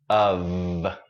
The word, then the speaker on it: of: But here's a strange word, spelled with an F at the end, but it's pronounced with voice. So it's of.